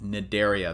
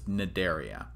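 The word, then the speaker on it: Cnidaria: actually part of this phylum called naderia the sea is silent okay so this is naderia um you don't need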